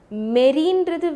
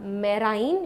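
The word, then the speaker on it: marine: So always remember, மெரீன்றது வேறு, fresh வாட்டருன்றது வேறு. எப்பப்போலாம் மெரீன், ஓகேவா, ஆக்சுவலாக இட் இஸ் நாட் மெரைன், இட்ஸ் மெரீன், அப்படி தான் ப்ரொனவுன்ஸ் பண்ணோம்.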